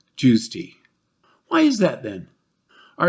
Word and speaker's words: JWST: call it the JWST, often pronouncing it run together almost like a single word, which ends up sounding like Jews tea.